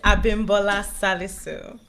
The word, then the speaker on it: Abimbola Salisu: It's Abimbola Salisu.